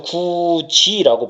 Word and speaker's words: 굳이: 그래서 구지라고 발음이 나면 이게 바로 뭐다? 국외음화 현상이에요.